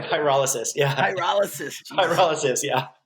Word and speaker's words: pyrolysis: How do you say Pyrolysis, yeah.